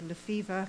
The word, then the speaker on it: Lefevre: much yes sir the next speaker is and I know I'm not pronouncing it correctly yes good afternoon my name is Lefevre capital capital F re and I